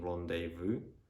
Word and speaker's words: rendezvous: but not least so that's uh the only words that i know in which letters that is silent is in rendezvous which is like a